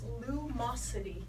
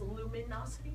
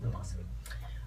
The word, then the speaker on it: Lumosity: It's Lumosity. Some people mispronounce it as luminosity, but it's just Lumosity.